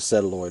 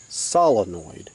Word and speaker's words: solenoid: say it properly so here's my attempt guys okay it is a solenoid okay technically okay but